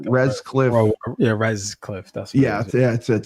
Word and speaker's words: Retzlaff: Rescliff. Yeah, Rescliff. That's what it's Retzlaff.